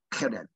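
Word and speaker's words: חרם: 케렘. H가 좀 강한 발음이에요. 케렘이라고.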